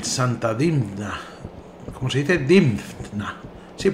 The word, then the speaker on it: Dinfna: dinna Cómo se dice difna sí porque hay una F después de la n difna Sería bueno capítulo 4